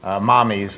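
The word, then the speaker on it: Mamis: the dairy free I said yes I like mommies which is spelled m-a-m-i-s mommy's gelato and that's a dairy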